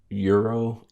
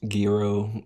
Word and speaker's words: gyro: And you go down and get well, this is pronounced multiple ways, so I'll say it multiple ways. Gyro, gyro, gyro.